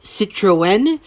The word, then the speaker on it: Citroën: A quick note here, we are aware that Citron's name should probably be pronounced Citroën, but we call him Citron because we can, and he's okay with it.